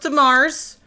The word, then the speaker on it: DeMars: It's pronounced DeMars. Julia's last name is DeMars, and it is French of the marsh.